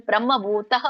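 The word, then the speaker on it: ಬ್ರಹ್ಮಭೂತಃ: ನೀವು ಅದಕೊರೆಗೆ ಹೇಳ್ತಾ ಇರ್ತೀರಲ್ಲ ಬ್ರಹ್ಮಭೂತೋ ಅಂದು ಅದಿಗಚ್ಚತೆ ಹೇಳಬಾರದು ಬ್ರಹ್ಮ ಭೂತ ಅಧಿಗಚ್ಚತಿ ಅಂತ ಹೇಳೋರಿದ್ರೆ ನೀವು ಹಿಂದಿ ಪದ ಹಿಂದಿನ ಪದ ಸರಿಪಡಿಸಬೇಕು ಹಿಂದಿನ ಪದ ಏನು ಹೇಳಬೇಕು ಬ್ರಹ್ಮಭೂತಹ ಅಂತ ಹೇಳಬೇಕು ಬ್ರಹ್ಮಭೂತ ಅಧಿಗಚ್ಚತಿ ಒಂದು ಇಲ್ಲ ಅಂದ್ರೆ ಕೂಡಿ ಹೇಳೋರಿದ್ರೆ ಮಾತ್ರ ಬ್ರಹ್ಮಭೂತೋಧಿಗಚ್ಚತಿ ಹೇಳಬೇಕು ಹರೇ ಕೃಷ್ಣ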